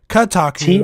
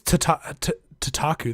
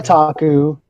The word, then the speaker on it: Kotaku: Kotaku. TOT is spelled KOTAKU. Yeah, I don't think it's Tataku.